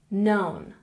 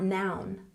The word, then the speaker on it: known: let's look at pronunciation known not noun known known good and